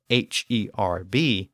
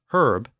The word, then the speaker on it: herb: And so this is why British English pronounces H-E-R-B as herb, but American English pronounces it as herb without the H.